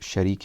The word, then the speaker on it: Sharik: de la vie de Sharik ibn al-A'war, ou certains le prononcent Shuraik ibn al-A'war, et la deuxième personne, Han ibn Urwa, et troisième personne, Muslim ibn Aqil.